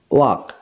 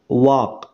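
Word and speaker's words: walk: ঠিক আছে, যেমন আরো উদাহরণ দিলে বুঝতে পারবে, যেমন অক, ওয়াক। তাহলে এখানে দেখো এল এর উচ্চারণ হচ্ছে না, ওয়াক এল এর উচ্চারণ হচ্ছে না।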